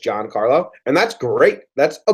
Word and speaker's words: Giancarlo: pronounced Giancarlo Stan's name I just said John Carla say just Giancarlo and that's great that's